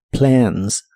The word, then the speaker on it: plans: La A de esta palabra se pronuncia con un sonido de inglés que es una combinación entre el sonido E y el sonido A. Plans, plans.